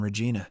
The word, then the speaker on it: Regina: as Megan Walsh from Regina Canada but she pronounces it to rhyme with vagina all the students laugh